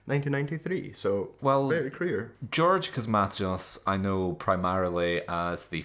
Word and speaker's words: Cosmatos: So yeah, this is 1985, directed by George Cosmastos, I believe it's pronounced.